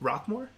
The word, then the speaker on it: Rocquemore: Did I pronounce that right? Rocquemore?